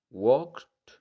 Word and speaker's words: walked: Called, walked, ¿ok? Walked. En esta palabra, nota que la L es silenciosa, ¿ok? No se pronuncia y también la E no se pronuncia, ¿ok? Entonces pronuncias algo como walked, ¿ok?